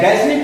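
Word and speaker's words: ghastly: चाहे गैसली पढ़िए चाहे गास्टली पढ़िए, एच का उच्चारण देखने को नहीं मिलता।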